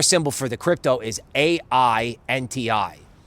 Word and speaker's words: AINTI: for the crypto is AI NTI right phonetically it's Ain I ain't I wonderful okay the antivirus